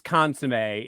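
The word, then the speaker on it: consommé: American listeners out there consum it's consum is how we pronounce it like okay yeah consum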